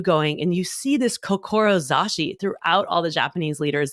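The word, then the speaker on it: 志: is a Japanese word that means C is pronounced kokoro zashi which means the strength of your heart and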